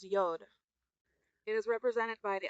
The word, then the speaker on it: Yod: Y comes first, which is pronounced Yod.